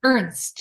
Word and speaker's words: Ernst: ernst how do you say your last name ernst okay it's just perfect good for you gail